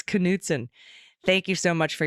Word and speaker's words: Knudsen: Attorney General of Montana's name is pronounced Knudsen gotta pronounce the k oh we were calling him Newton like we were doing a silent k it's Knutson thank you so much